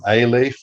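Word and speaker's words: alief: So A-leaf, I think, is how it's usually pronounced. So Okay. to contrast with B-leaf, A-leaf, B-leaf. And yeah, so A-leaf is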